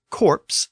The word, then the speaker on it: corpse: We can also see this distinction in words like corpse, C-O-R-P-S-E, and core, C-O-R-P-S. Both words are still spelled with an S, but the pronunciation of the S was lost in core.